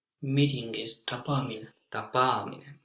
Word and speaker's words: tapaaminen: Meeting is tapaaminen. Tapaaminen. Yes, with 2 A's. So now pronouncing 2 P's or 2 A's can be quite crucial.